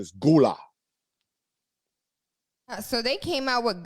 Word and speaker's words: Gullah: pronounce it gula but the pr the proper pronunciation is gula so they came out with galagala island you remember that yes yes yes yes yes like i said like i said some people do pronounce it gullah so if you say gully you're not really